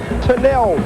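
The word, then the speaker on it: Tunel: called tunnel and actually you don't say tunnel the serbian pronunciation is tinnelle 21.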